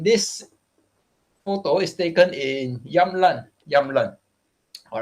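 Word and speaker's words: Jämtland: here all right yeah youngland sweden uh it's not jamlin all right because they don't have the j sound as well the j is pr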